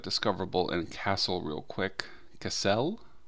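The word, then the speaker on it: Kassel: and castle real quick cassell pretty sure it's not pronounced like the english word castle okay so that looks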